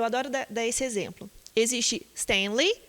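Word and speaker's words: Stan Lee: É as duas tônicas ou uma é mais forte que a outra? É Stanley ou Stanley? São dois nomes. Stan, separado, Lee. Então, as duas são tônicas. Stanley.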